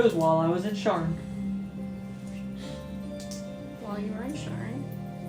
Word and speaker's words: Sharn: Sharn. Spell it for me.